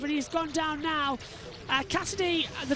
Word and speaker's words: Casadei: And it's not like Nick Cassidy, it's Mattia Cassidy. It's spelled Casadei. So it's slightly different than the Cassidy that we see in Formula E.